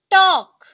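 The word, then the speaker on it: talk: Silk silk, elk एल्क, टॉक टॉक, वॉक वॉक, योक योक। ठीक है, यहाँ पे देखो एल जो है वो साइलेंट है। ठीक है, टॉक वॉक योक, ये साइलेंट है।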